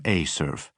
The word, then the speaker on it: Acerf: Evers pronounced the facility acronym Acurf.